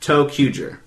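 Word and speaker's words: ToQger: like two q and then G but it's pronounced toer but anyway um it's going to be begin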